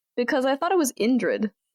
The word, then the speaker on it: Indrid: I thought it was Ingrid. Indrid is like a band's name, but Ingrid is a woman's name. So I'm just curious. And I didn't want to Okay, it's supposed. I've been saying it wrong. It's supposed to be Indrid.